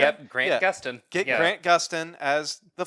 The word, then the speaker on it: Gustin: Yep, Grant Gustin.